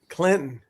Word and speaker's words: Clinton: Clinton. Leave the T off, Sean.